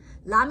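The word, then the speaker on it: ל: Lamed is pronounced like an L in lucky.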